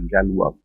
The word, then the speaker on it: Galois: They write it as Galois, pronounces as Galois.